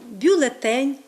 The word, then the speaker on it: бюлетень: бюлетнями варто зауважити що слово бюлетень має наголос Тільки на Останньому складі який зберігається і в процесі його відмінювання тому бюлетень бюлетеня До речі варто